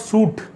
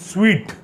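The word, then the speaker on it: suite: room in the hotel it's not suit it's sweet then we have dough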